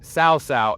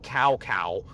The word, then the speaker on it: Cao Cao: That's how I know that it is Cao Cao and not Cao Cao.